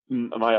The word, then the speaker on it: Maya: So is it pronounced the Maya Foundation? Maya Foundation, exactly, because my girlfriend's name is Jaritza, Marek, so it's like Maya, it's like cute.